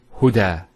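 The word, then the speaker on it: هدى: Now this is not actually a ya, it's an alif. It's called an alif maqsura, and it's exactly like an alif, the way it's pronounced. It's like a ya, without the 2 dots. So we say huda.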